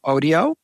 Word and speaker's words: Odio: a contributor as well it's called AIO and it's spelled Odio we publish it in